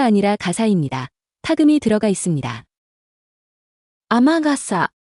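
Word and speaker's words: 雨傘: 雨傘。雨傘。 비 오는 날 쓰는 우산, 아메가사가 아니라 아마가사입니다. 아메는 뒤에 다른 말이 붙으면 이렇게 아마로 발음되기도 합니다.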